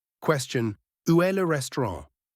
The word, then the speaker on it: restaurant: French word, le restaurant. Question, où est le restaurant? The final T is silent, and Ran uses a nasal sound.